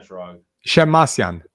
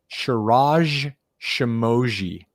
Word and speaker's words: Shirag Shemmassian: The name is the way it's spelled, the name is pronounced. So I provided the information to them and, the dean or whoever it was, the professor on stage was like, Shirag Shemmassian.